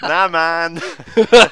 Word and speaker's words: Naman: He's the only one who says it like that, by the way. Everyone else says Naman. Well, my family says that. They're the only ones who can say it right.